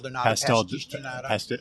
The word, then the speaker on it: pastel de nata: And then the other item, how do you pronounce the pastéis de nata? Pastel de nata.